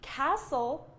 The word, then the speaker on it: castle: I don't even know how you would pronounce it, but it wouldn't be castle. It wouldn't be castle because this T is silent.